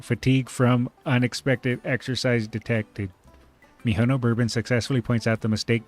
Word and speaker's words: Mihono Bourbon: Now you have a good Miss Mihono Barbin. My name is Mihono Bourbon. It is spelled M I H O N O B O U R B O N.